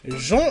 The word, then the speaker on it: Jean: you again I am Jean yeah I know it says Jean but you got think of it in a French um French pronunciation like je that's how kind of how you spell it Andante like pleasure to